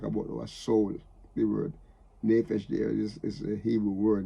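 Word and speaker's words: נפש: He said to deliver our soul, our nefesh, the soul, the living being, our life.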